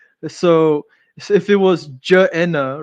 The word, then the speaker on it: Gehenna: So in the Semitic language, there is no g syllable. This is largely pronounced j. So, if it was ja'ena, right?